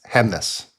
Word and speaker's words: Gjemnes: It's Gjemnes. And I did look this up. It's Hemnes. Hemnes, but there's no the G is silent, the J is a Y.